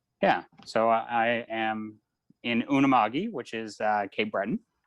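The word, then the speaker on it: Unama'ki: and the malicious yeah so i am in unamagi which is uh cape breton um that's how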